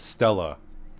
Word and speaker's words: stelae: One Stelae. Way Stella. So it's Stella. A Mayan Stelae. Not a Mayan Stelae. I've been saying it wrong this whole time, dude.